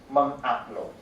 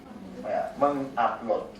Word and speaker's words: mengupload: So we pronounce as mengupload, mengupload, and then this one we pronounce as ngecek, ngecek, and then this will be pronounced as ngerun.